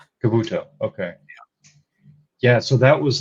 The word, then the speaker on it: Kabuto: you say the second giant citizens uh citizen Kabuto Kabuto okay yeah so that was like would you